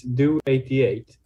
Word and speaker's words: DO88: what does it really mean well the correct pronunciation is do 88 and there's no specific meaning to it it's